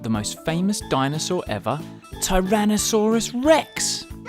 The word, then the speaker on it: Tyrannosaurus rex: most famous dinosaur ever Tyrannosaurus Rex how do you say that again ty ran no saw Russ Rex it's often called t-rex